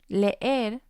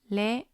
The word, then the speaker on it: leer: Leer has two letter E's, and because the E is a strong vowel, this is going to have two syllables. Leer, leer.